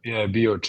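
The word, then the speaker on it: Bioče: Is Bioce, is that how you pronounce the city? Yeah, Bioce, yeah.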